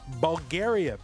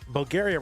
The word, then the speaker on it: Bulgaria: Bulgaria rhymes with area.